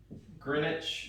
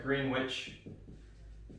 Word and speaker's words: Greenwich: a line that runs through greenwich is how you pronounce it although it looks like greenwich greenwich england and that's